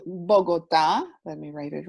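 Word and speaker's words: Bogotá: here which is called bogota let me write it right here and then it has the accent on the a and it's right here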